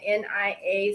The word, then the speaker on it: Naya: You can find me at, well, you can find me on Instagram, and it's Empress hyphen Naya, Nia, spelled like Nia as in purpose, and Isaac.